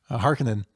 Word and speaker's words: Harkonnen: Throwing that syllable in there, Harkonnen.